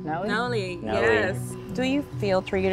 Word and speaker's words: Nolly: So this is if I was, so I just end up on, now, how do you pronounce it? Nolly? Nolly, yes.